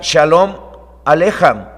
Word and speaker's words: Shalom Aleichem: Y Shalom Aleichem, así se escribe, se pronuncia Shalom Alejam y significa paz a vosotros.